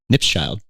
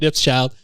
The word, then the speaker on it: Knipschild: I think you pronounce it, it's like cheese nips, but with a child. Knipschild. You got Chad Knipschild, who's an awesome person.